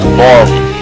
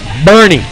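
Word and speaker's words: Boerne: Borm. How do you say it? Borm. Bernie.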